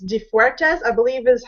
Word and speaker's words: De Freitas: a little bit about your background um it's defas I believe is how you pronounce the last name close it's defus defus I didn't want to butcher otherwise I